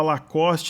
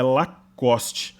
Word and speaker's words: Lacoste: discussão boim as pessoas falam que o correto a falar custe que quem fala lacoste está falando errado mas eu fui pra europa é lacoste entanto se você entrar no youtube você colocar a pronúncia é no exterior é ó cost é o correto inclusive lacoste vem de